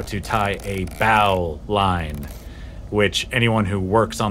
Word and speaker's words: bowline: how to tie a bow line which anyone who works on the water knows that's how it's spelled but it's pronounced bowline because in sailing culture they always shorten things it's not a main